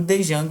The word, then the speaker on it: Django: E aí, em outras palavras, né, a gente diz que é só Django, simplesmente assim a pronúncia.